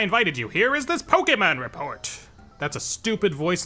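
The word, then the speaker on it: Pokémon: Did you all know it's pronounced Pokemon? Pokemon. Very important that you get the K in there.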